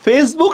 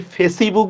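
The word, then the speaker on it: Facebook: আমরা কি ফেসিবুক বলি না ফেসবুক বলি? ইর কিন্তু উচ্চারণ হচ্ছে না।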